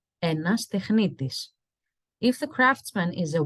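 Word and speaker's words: τεχνίτης: In Greek, we say technitis, technitis.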